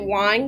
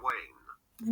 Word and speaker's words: Weyn: wine or arien dondo i'm gonna be pronouncing it wine because that seems right or is it wayne i don't even know i'm gonna keep saying wine and if it's wrong then no actually i have a computer i'm on a computer suzanne line pronunciation okay i'm sorry it's different languages so there's dutch danish english uk suzanne wayne wayne english usa suzanne wayne